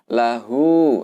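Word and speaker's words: لَهُ: huruf yang berharokat, ya, maka di situ kita baca dengan mat silah qasirah. Artinya dibaca cukup dengan 2 harokat. Sehingga bacanya adalah lahu, ya, hu-nya di sini adalah 2 harokat.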